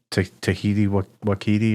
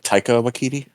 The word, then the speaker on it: Taika Waititi: Tahiti Wakiti, or how do you say his name? Oh yeah, I think it's like Taika Waititi.